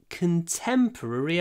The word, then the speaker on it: contemporary: at the end ruri people often think oh it's so difficult to say ruri rri r r r r r r it is quite difficult but if you put your lips into the duck position it's easier rri ruri contemporary purri